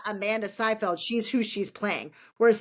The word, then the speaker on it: Seyfried: to Okay, pronounce it, but it's Seyfried.